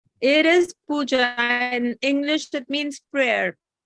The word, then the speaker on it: Pooja: Pooja, is it pronounced Pooja? It is Pooja.